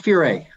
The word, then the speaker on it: Furay: thing that we're noticing we call you Richie Fury you say Richie Fury what is the correct pronunciation it's puree oh can we start the